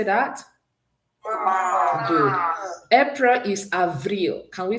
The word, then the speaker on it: avril: March is pronounced ma. Can we say that? Ma. Good. April is avril.